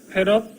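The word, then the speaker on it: 패럿: F 이거 뭐라고 읽냐면 페럿이라고 읽어요. 패러데이의 그 페럿, 마이크로 페럿, 나노 페럿, 피코 페럿.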